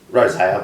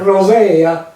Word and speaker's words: Rozaia: Rozaia, but that's pretty anglicised now. Rozaia.